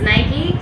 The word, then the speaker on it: Nike: So, both of them give the answer, but the correct pronunciation is Nike.